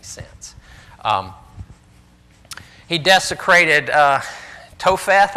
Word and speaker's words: Topheth: um he desecrated uh topheth i guess is how that's pronounced or topheth which was in the